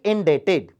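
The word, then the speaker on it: indebted: यहां B silent होता है बच्चों, जैसे डेप्ट नहीं होता, डेट होता है ना, वैसे ही इंडेटेड।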